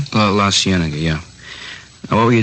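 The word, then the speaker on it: La Cienega: Uh La Sigenega, is that how you say it? La Sienna.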